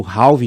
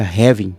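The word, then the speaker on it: halving: nós vamos ter o halvin do Bitcoin que na verdade se pronuncia havin mas aqui no Brasil como se a portuguesa tudo as pessoas estão chamando de halvin né O que que é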